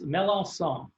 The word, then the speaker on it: Melancon: And I always pronounce it right, Melancon. Is that close? It's close. It's a soft C. It's Melancon.